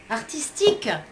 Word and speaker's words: artistique: Artistique.